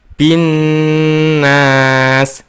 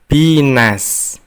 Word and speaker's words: الناس: Selanjutnya, ketika membaca binnas, kita membacanya dengan berdengung. Karena di situ ada huruf nun bertasydid. Huruf nun dibaca double atau ganda dan kita dengungkan. Kita membacanya binnas, bukan binas.